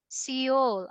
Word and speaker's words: Seoul: Seoul. Oh, really? Seoul? Yeah, This one is yeah, Seoul. Seoul, Korea. correct. Seoul. Seoul. Uh, Silent. We don't pronounce the E. Silent E. Seoul, Korea. We don't say Seoul.